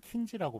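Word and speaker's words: Kinsey: 킨제이가 그래서 생물학자였는데 실제로 이제 미국에서는 킨지라고 발음이 됩니다.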